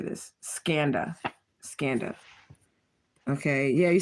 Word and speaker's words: Skanda: Skanda.